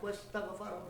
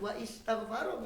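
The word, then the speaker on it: وَاسْتَغْفَرَ: wastaghfaro rabbahu summa anak, wastaghfaro, bukan wa istaghfaro bacanya. Di surat Shad. Surat Shad itu fastaghfaro rabbahu. Bukan fa istaghfaro. Karena hamzahnya hamzah wasol sudah dibaca.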